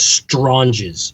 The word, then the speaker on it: Stranges: Stranges? Strong. Yeah, it's Italian, so it's Stranges.